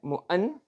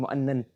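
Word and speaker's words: مُعَنْعَن: That's spelled right. Mu'an'an. It's not spelled right. It's mu'annan. It's not mu'annan. It's mu'an'an. It's not spelled correct. It's spelled wrong. It's mu'an'an. Yes?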